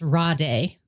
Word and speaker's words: Rade: His first name is spelled Rade, and I think it's pronounced Rade.